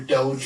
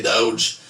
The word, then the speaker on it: Doge: forecasting like with your Doge or Dodge what's the right way to say I don't know I call it Dodge other people say doge I think it's potato tomato potato tomato I've said this in